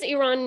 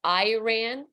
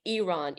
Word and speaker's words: Iran: it a compound word it's actually one word and it's with an E it's like eron even though it's written